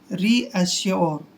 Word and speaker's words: reassure: से करेंगे और देखिए URE को योर पढ़ते हैं, योर ऐसे, रीअश्योर। दोस्तों रीअश्योर का मतलब होता है विश्वास करना, रीअश्योर यानी कि विश्वास करना।